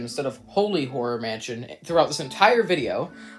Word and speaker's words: Holy Horror Mansion: before this video starts I called it a holly horror Mansion instead of holy horror Mansion throughout this entire video like an idiot so